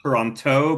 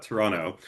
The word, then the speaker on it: Toronto: I'm really impressed, Latara, that you dropped the second T in Toronto. So like there's clearly so you know exactly how we pronounce Thank it here, you. not Toronto, but Toronto.